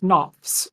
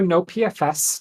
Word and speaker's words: NoPFS: So to address this, we introduced NoPFS, or NoPFS, depending on how you'd like to pronounce it, the Near Optimal Prefetching